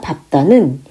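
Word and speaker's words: 밟다: 자, 밥다 밟을 때는 밥다 이렇게 하겠지.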